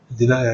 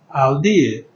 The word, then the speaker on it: Aldeia: denier. It's also a Portuguese word. Okay. Aldeia. Okay. Aldeia, meaning village. Okay. And that was how people couldn't pronounce it. And they call it denier, denier.